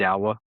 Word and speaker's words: Dawah: Dawah Dawah Ink.